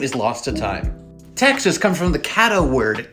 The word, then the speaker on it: Texas: And then when it went into English, that X became pronounced like an English X instead of like a Spanish X.